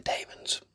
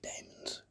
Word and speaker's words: Daemons: I say Daemons. If you say demons, fine, but you are wrong.